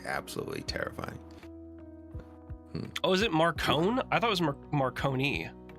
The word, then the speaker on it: Marcone: Yeah, I guess my like mob brain just was like, it's Marconi. Marconi, yeah, the Marconi man. Not Marcone. It sounded more mafioso to me. So Marcone. Okay.